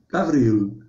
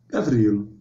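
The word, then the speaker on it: גבריאל: o negócio complica porque o original hebraico é gav gavril Gabril Ok e o original grego é Gabril Gabriel Ok gente então anota aí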